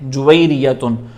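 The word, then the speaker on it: جويرية: नैसरतुन इसके वज़न पर जुरियतन ये खवातीन का नाम हमारे यहां पर रखा जाता है जुवेरिया हमारे यहां पे जवेरिया जवेरिया कहते हैं। वरना असल प्रोनाउंसिएशन उसकी है जुइरियतुन।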